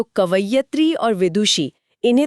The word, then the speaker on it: कवयित्री: बिल्कुल सही शब्द है कवयित्री। क, व, य पर छोटी ई की मात्रा और त्री पर बड़ी ई की मात्रा।